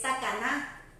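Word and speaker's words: תקנה: Otro término de la ley oral es takaná o geserá. Takaná se escribe T-A-K-A-N-A-H.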